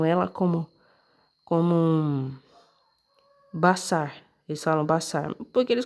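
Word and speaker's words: בשר: palavra aqui ó tá vendo que eles eles pronunciam ela como como bassar eles falam bassar porque eles colocam esse sinal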